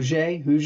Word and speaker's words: Hoguet: I'm your host. I'm extremely excited today to have Lou Hu with me. Ho ho.